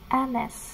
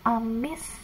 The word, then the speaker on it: Ms: MS ini bacanya Anes. Anes, bukan Amis ya, tapi Anes.